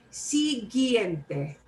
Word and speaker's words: siguiente: But this silent U sometimes does happen. The silent U happens only if it's a combination of GUE or GUI.